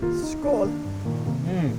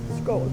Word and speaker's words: skål: Skål. Skål. Skål, I've heard that one before.